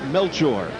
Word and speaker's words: Melchor: in the blue trunks he prefers the pronunciation melchor you know right now